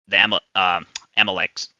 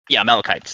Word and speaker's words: Amalekites: It's an instruction for a specific circumstance, which is dealing with the Amaleks. I can't even pronounce it right, but you get what I mean? Like it's a specific, Amalekites. There you go.